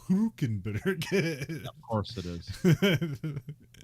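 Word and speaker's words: Hülkenberg: hulkenberg so okay although when you hear him say his name it's like Nico who can better kid of course it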